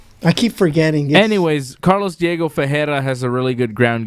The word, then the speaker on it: Carlos Diego Ferreira: pronounced Carlos Diego Ferreira.